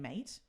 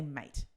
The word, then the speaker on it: mate: So if you can get down the pronunciation of mate, so saying mate. Okay. But we don't say mate. We say mate. Mate. We don't even say the T.